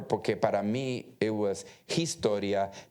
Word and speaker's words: Historia: I remember porque para mí it was Historia, Hernández, Hermosa. I pronounced the H. When I tried the best I could, but nobody told me that the H era muda.